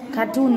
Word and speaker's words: cartoon: Cartoon mới là đúng. Trọng âm là cartoon mà, ôm loại chữa rồi mà. Cái cartoon này cô đã nói trọng âm rồi mà, đúng không? Cartoon là trọng âm 2 mà.